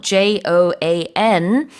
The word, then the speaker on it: Joan: 이렇게 쓰는 이름은 two syllable로 발음을 하지만, Joan은 one syllable로 발음을 합니다. Yes. Joan. Yep. 하나의 사운드로 OA를 묶어서 발음을 해요.